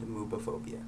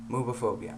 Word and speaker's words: Moobaphobia: just wanted to talk today about binding and mobophobia yeah movie phobia um it's spelled m-o-o-b a p h o b i a uh so moveophobia I think um you know most uh trans